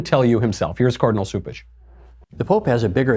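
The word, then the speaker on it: Cupich: But Cupish, I think it's actually pronounced Soupish, but people call him Cupcake, so then they think it's Cupish.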